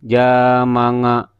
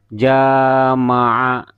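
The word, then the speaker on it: جمع: Jangan ada yang jamanga. Jangan ya. Ya, jangan manga. Tidak ada nga ya. Jama'a.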